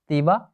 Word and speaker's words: Tiwa: दो members of the group prefer to call themselves as अ तीवा और या फिर आप ताइवा कह लीजिए, प्रोनाउंसिएशन आपका कुछ भी हो, ठीक है।